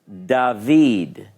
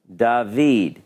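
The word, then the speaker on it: דָּוִד: yodh and it makes the e so it's dahveed dahveed now if I spell it like the Hebrew Bible does quite often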